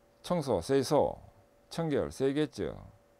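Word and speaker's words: 清掃: 일본에서 생겼기 때문에 OS로 발음되는데, 일본 발음을 통해서 OS를 보면 정리는 세이리, 정돈, 세이돈, 청소, 세이소, 청결, 세이게츠, 그 다음에 습관화, 시적게 해서 5가지 OS 이렇게 됩니다.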